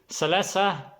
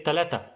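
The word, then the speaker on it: ثلاثة: When they say salasa, Egyptian, they will not say salasa, they will say talata. So see, there's sa 2 times in salasa, like sala, sa, salasa, salasa.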